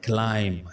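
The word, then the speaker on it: climb: client of D tree तो word है क्लाइंब सी एल आई एम बी इसमें हम बी को प्रणाम नहीं करेंगे बी है यहां पर साइलेंट तो वर्ड हम प्रोनाउंस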